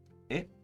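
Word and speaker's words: へ: particular represented by here is actually pronounced e instead of hey no another easy one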